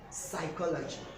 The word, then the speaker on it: psychology: The P is actually silent in the pronunciation of psychology.